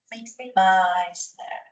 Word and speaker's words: Meissner: El plexo interno, llamado también plexo de Meissner, E-I-A. Y esta parte inclusive se pronuncia como una A, Meissner.